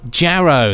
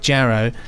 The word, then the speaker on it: Jarrow: is it Benji you are alone in your pronunciation of Alan platers birthplace of Jarrow that's Jer and not yeah as in the